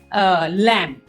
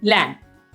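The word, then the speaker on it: lamb: इसी तरीके से और वर्ड्स हैं जैसे कि लैंप एल ए एम बी लैंप इसे लैंप ब नहीं बोलना वी विल से लैंप और और वर्ड है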